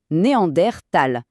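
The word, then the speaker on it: Neandertal: D'ailleurs, une petite anecdote intéressante sur leur nom, ça vient de la vallée de Néander en Allemagne. Et c'est pour ça qu'en toute rigueur, on devrait prononcer Néander Tal.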